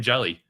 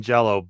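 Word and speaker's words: Jellÿ: Even say with green jelly. I keep saying jelly. I know it's jello. It's pronounced it's spelled jelly. Well, it's it's it's y with an umlot which is apparently pronounced o.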